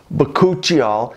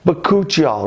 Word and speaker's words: bakuchiol: It's called bakuchiol. Some people pronounce it bakuchiol, but we'll go with bakuchiol.